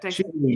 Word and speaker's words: Chevening: Is that Chevening? That's it's weird, but that's how it's pronounced.